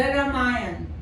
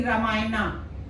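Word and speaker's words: रामायण: the with them this in English we write ramay we put a a but we don't say I have heard many people say ramayana it's not ramayana it's a Hindi word because it is a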